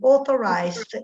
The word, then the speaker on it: authorized: La AU è quasi sempre O, quindi authorized users.